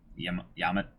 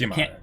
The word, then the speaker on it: Yamada: for hands-on approach with Yamada. I can't. It's Yamada. I can't. I put the wrong emphasis on the wrong syllable.